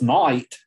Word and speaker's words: night: sound ache breathe um this word is night right it's pretty easy to tell this word's night right but the way that they would pronounce it then would be neat neat at sleep and